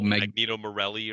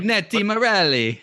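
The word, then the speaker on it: Magneti Marelli: megani Morelli or I can't I can never pronounce it but um oh Magneto Morelli or whatever magneti Morelli magneti Morelli thank you Jesus um but they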